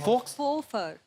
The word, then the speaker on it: faux: एक्स को pronounce ही नहीं करते। फॉक्स, Fofer. फोफा। तो एक्स नाम नहीं लेना उसका, ना, साइलेंट है वो।